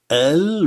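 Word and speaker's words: ال: Le elif à l'intérieur du mot et à la fin se prononce a, mais dans l'article, on le prononce el, tout simplement.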